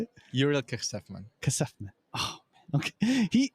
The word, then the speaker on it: Kejsefman: Kejsefman. No, not even close. That was pretty close. Go for it. How do you say it? Uriel Kejsefman.